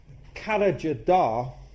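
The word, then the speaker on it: Karacadağ: But more importantly, this is where the revolution began, because at a place called Karajadar, and that's not the way that it's spelt, but that's the way that it's actually pronounced, which is a mountain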